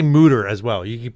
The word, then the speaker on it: Mütter: Patreon, we'll say Mutter. Yes. Remember what we said. We'll really pronounce the umlaut.